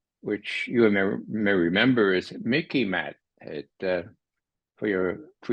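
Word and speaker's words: MICIMATT: you may remember is Mickey mat it uh for your for your viewers it sort of rhymes with Mickey Mouse so you can remember it okay but it's the Mickey mat the military industrial Congressional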